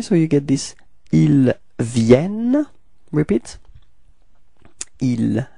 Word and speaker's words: viennent: And the final ENT is not pronounced, so it's Il Vienne.